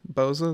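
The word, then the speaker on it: Bozza: by Boza I believe is that correct Ben Boza is that how you say his name yes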